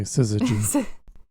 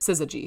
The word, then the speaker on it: syzygy: I think she's going to say syzygy.